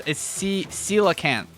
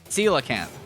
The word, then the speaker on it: coelacanth: So it's coelacanth. Coelacanth. Gotcha. Coelacanth. That's how it's pronounced.